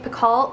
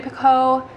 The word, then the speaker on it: Picoult: going to be on jodie picault or jody piccol so joey picot jody pica jody piccol i know like the t is silent jenny piccoll is my